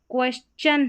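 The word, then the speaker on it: question: को शन पढ़ते हैं, लेकिन क्वेश्चन में यहाँ पर चन करके इसको पढ़ते हैं, S और T का एक तरीके से। यहाँ पर जो T है वो च करके उच्चारण हो रहा है इस T का, ऐसे समझ लें।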